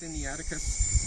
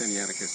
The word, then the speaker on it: Sinaiticus: Okay, but the Codex Sinaiticus ends with C-U-S, but it's pronounced C-U-S-S. I find that rather interesting. We're just going to go to, I have an actual printing by Codex Sinaiticus, D.C.